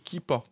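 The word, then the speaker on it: Keepa: petite extension du navigateur Google Chrome qui s'appelle kipa ça s'écrit k e e P a vous ajoutez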